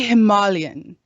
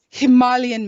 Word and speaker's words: Himalayan: Gudri, he said, no, we don't say Himalayan, we say Himalayan. It's the Himalayan mountains, not Himalayan.